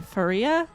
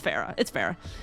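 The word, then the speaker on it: Pharah: Faria? It's Farah.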